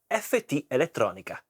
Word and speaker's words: FTelettronica: So let's pronounce correctly in Italian. It's an Italian brand. So FT Electronica intro and then we talk more about this beautiful pedal.